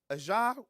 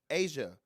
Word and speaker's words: Aja: by Fox 5 Vegas, Aja Wilson and the Las Vegas Aces, I probably said it wrong. Say it again. Asia Wilson and the Las